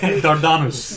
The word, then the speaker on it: Dardanus: Let's agree to pronounce it in a much more Greek way. Dardanus.